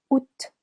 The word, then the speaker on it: Août: Août, août, silent A.